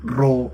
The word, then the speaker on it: ρ: Y es que RAO suele ser confundida por una P en español porque tiene toda la pinta, ¿no? La grafía da para decir, "Es que esto es una p y es una R. Es nuestro sonido de R. de R vibrante y de R simple.